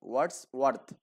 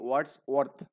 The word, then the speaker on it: Wordsworth: আর্থ, মানে দুটো একসাথে তো এই জন্য একটু উচ্চারণের সমস্যা হবে। ওয়ার্ডস ওয়ার্ডস ওয়ার্থ, ওকে? ওয়ার্ডস ওয়ার্থ।